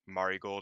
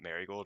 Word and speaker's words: Marigold: I kind of hate Julia specifically said it's pronounced Mari gold and not marold and I'm was like I hate that that's